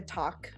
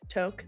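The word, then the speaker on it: toque: know today it's like a talk or whatever the you pronounce it in Canadian toke thank you thank you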